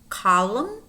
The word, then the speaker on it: column: so them condemned condemned column column damn damn notice how these words have em and and you do pronounce the M but not the end and then we have